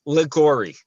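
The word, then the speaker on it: Liguori: last name properly oh it's ligori that's a that's a g is that a g sound yeah yeah the u is silent okay oh like the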